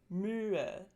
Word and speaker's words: Mühe: The tense umlauts tend to occur in open, stressed syllables. Open syllables means syllables that end in vowels. So some examples are Mühe, Käse, fröhlich. The lax umlauts tend to